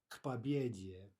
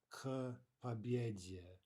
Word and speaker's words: к победе: Okay, practice, again, the pronunciation, к победе, not к победе, right? We really want no pause whatsoever between those two consonants, к победе. Pretend as if it were written as a single word and pronounce it accordingly.